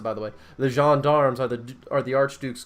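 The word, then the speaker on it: gendarmes: murdered in plain sight the Jean dogs that's how you pronounce it by the way the jean-darms are the are the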